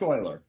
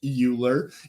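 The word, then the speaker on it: Euler: fi and E ul's number none that it's pronounced Oiler just for the record Oilers you know that I I had to learn that from somebody correcting me but it's not pronounced uler it looks like it's pronounced uler it's pronounced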